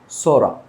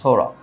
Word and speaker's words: psora: আমরা পি যদি থাকে PSORA, সোরা, রেজাল্ট বলতে হবে সোরা। পি এর উচ্চারণ এখানে হবে না, তাহলে এখানে পি এর উচ্চারণ হবে না, সোরা।